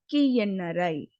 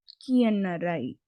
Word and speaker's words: ಕಿಯಣ್ಣರೈ: So it is actually pronounced as nya. You have to swallow that letter. So when you read this, it's Kiyannarai. Kiyannarai.